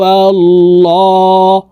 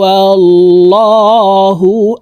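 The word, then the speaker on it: الله: জবর অথবা পেশ হইলে এই লামকে ল অর্থাৎ মোটা করিয়া পড়িতে হয় কুল হু আল্লাহ হা পেশ হু কুলহু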